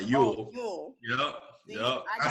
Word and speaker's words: Ewell: Ewell? You'll get my name right. How you say it? Yeah, you'll get my name right. Ewell.